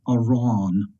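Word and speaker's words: arán: The emphasis is on the a or a in English because it has an fada over the top of it, versus the word aron, which has an emphasis on the first a because the fada is placed there.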